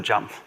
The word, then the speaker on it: JMP: I didn't know at the time that you're supposed to pronounce it jump.